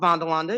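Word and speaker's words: Vanderlande: two years ago I had a company called bondalonda Industries it is pronounced vondalonda it is the Netherlands based company and you've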